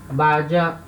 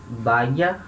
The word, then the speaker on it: vaya: Esse Y, em alguns lugares vai falar um som de I, vaya, vaya. Outros lugares vai falar um som de DJ, né? Vaya, vaya, certo? Nenhuma das pronúncias está errada, tá?